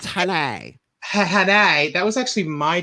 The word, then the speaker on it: Haney: It's pronounced Hanai.